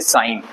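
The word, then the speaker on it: sign: letter है जी तो जी भी वर्ड बहुत सारे वर्ड में साइलेंट होता जैसे साइन साइन करना य पर है साइन तो जी साइलेंट साइन पढ साइन फॉरेनर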